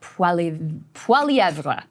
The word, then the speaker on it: Poilievre: That's the French pronunciation. I think he says Poilievre, I think is the way that I'm going to call him Mr. Pierre. That's what we're going with. Poilievre is the French version.